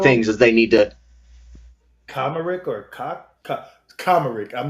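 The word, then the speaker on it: Kacmarek: I think Kosmerick. Okay. I think the C kind of works like an S in that, Kosmerick.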